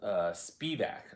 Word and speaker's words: Spivak: Spivak, not that I'm overly concerned about pronunciation of my last name, but it is Spivak.